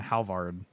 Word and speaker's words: Halvard: Aklosh and Halvard. What? Yeah. Did I say that wrong? Halvard? No. Yeah. The D is silent. Oh, Halvar.